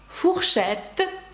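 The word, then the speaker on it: fourchette: через Ці дві літери знову ж фухшет ви ба Чите чому це ою фухшет виделка Ну і згадаємо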